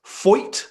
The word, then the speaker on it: Foyt: At Triple Crown Racing on Instagram asks, having spent your first full year at, I really don't want to mispronounce this, Foyt is the name of the racing team, correct?